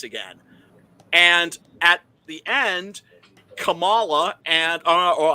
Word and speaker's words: Kamala: and at the end Kamala and uh or I'm sorry I need to pronounce it correctly Kamala uh and Biden weren't